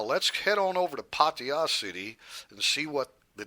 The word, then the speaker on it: Pattaya: how they say it pattaya it's not pattaya there's no ah right and it's not pattaya there's no i there's no i sound so yeah a guy's